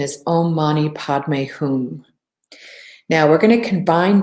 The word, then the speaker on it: Om Mani Padme Hum: And again, the pronunciation is Om Mani Padme Hum.